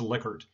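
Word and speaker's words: Likert: this guy and so he told us from first day it's liquored and actually i was just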